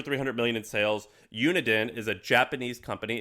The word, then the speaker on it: Uniden: Uniden is a Japanese company. It's uh uni like university and then den.